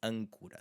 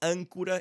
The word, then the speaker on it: âncora: So âncora is an anchor. Âncora, âncora, câmara. So these, again, happen to have N's and M's after them, and a lot of them do, I will admit.